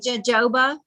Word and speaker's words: jojoba: It looks like jojoba, but you pronounce it jojoba.